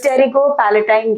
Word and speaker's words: Pterygopalatine: the Tero Palatine FAA it starts with p where the p is silent so you call it as Tero Palatine gangon right okay so